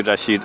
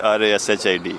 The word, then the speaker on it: Rashid: Can you spell that for me? Because I'm going to. You can say me Rashid, R-A-S-H-I-D, Rashid, Dr.